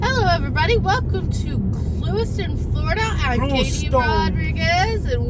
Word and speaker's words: Clewiston: Welcome to Clewiston, Florida. I'm Katie Rodriguez, and with me is my husband, Jose Rodriguez. Welcome to Southern Life. And it's pronounced Clewiston. Clewiston, dog.